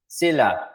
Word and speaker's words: Sila: Sila. Sila. Parang So, syllable.